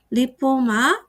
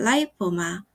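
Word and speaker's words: lipoma: 파이브로사르코마, 섬유육종, 오스테오사르코마, 골육종, 리포사르코마, 지방육종 또는 라이포사르코마라고 읽기도 합니다. 파이브로마, 섬유종, 오스테오마, 골종, 리포마 또는 라이포마, 지방종입니다.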